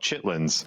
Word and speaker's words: chitterlings: I they spelled it chitterlings, but I've always heard it called chitlins. I've never heard anybody say chitterlings. Yeah, I mean that is the way it's spelled, but I don't know what the it's a I think we just call it chitlins, don't we?